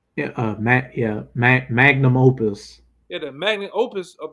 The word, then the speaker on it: magnum opus: Magnus Opus. Yeah, magnum opus.